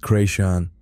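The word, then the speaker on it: Chrétien: There is a place near where I grew up called Carichan, pronounced Creation, Point Plantation.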